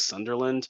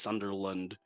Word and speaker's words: Sunderland: because you say James Sunderland and it's very noticeable. And the correct pronunciation is James Sunderland. It's like lower. It's like lower. It's like a U instead of an A.